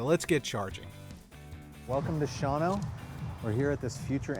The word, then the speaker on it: Shawano: Shawano, Wisconsin.